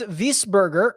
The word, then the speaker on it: Wiesberger: want my cash game opinion whisper or properly pronounced bernd wiesberger um yeah plays well i mean he won